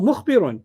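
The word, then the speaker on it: مخبرون: Oh, mukhbirun, Mukhbirun, yeah. Mhm. because it's going to rhyme with muslimun.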